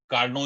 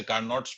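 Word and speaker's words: Carnot: जो आपने सुना होगा हीट इंजन, कार्नो इंजन, वैसे कार्नोट्स पढ़ते हैं हम हिंदुस्तान में, टी साइलेंट है तो कार्नो इंजन।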